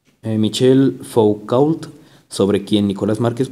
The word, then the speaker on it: Michel: Bueno, aquí un paréntesis, aquí dice Michelle, pero luego en otros países se pronuncia Michael. Así que lo dejemos en Michelle. Michelle Foucault, sobre quien Nicolás Márquez profundizará más adelante.